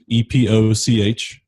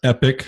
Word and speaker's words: epoch: I mean, it's EPOCH, right? If you grew up in good Bible thumping churches, you probably heard epoch, especially if it was King James. But it is pronounced epic.